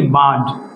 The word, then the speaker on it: bird: দেখেন এই যে আরটা আছে, আর পরে কি আছে? পিওর কনসোনেন্ট, অর্থাৎ এই, ই, আই, ও, ডাবল এবং ওয়াই, এগুলো কোনোটাই নাই, শুধু এই আরটা উচ্চারণ হবে না, হবে কি? বার্ড।